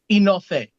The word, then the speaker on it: Enofe: Enoughy or enough? Enofe.